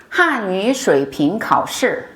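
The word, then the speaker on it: 汉语水平考试: 한어 수평고시, 중국어로는 이렇게 발음합니다. 한유水平考试.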